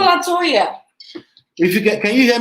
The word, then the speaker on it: LeToya: It's okay to say Letoya. Okay. It's not Letoya. Use It's LE. It's not La. Oh, it's not. It's LE. not LA. See, she's correcting me already.